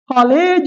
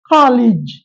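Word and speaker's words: college: short இ vowel age அல்ல ஏஜிட் copied cinema காலேஜ் அல்ல காலேஜ் காலேஜ் depict depict எஸ்பெஷல் அல்ல இஸ் ஸ்பெஷல் இஸ்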